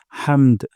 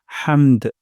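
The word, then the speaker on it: حَمْد: সাউন্ডটা নিচের দিকে যাবে হামদ হামদ আর হা উচ্চারণ করবো গলার মাঝখান থেকে হামদ রব্বানা ওয়ালাকাল হামদ রব্বানা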